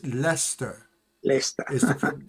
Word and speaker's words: Leicester: Bath and again, I used to say Leicester, but it's not Leicester, it's Leicester. Leicester. Is the right pronunciation of that.